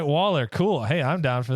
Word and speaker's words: Grayson Waller: So he's Grayson Waller. Grayson Waller. Did I say Waller. Walker?